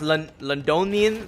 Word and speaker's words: Londinium: It's pronounced Londinium.